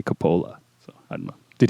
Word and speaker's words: Coppola: And it's unless there's an accent mark, it's always the second to last syllable is the stress. So it should be Coppola. I've never heard anybody say Coppola, so I don't know.